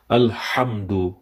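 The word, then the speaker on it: الحمد: It is Alhamdu, which is a little bit thicker. Ha is a little bit to be recited through the middle part of our throat.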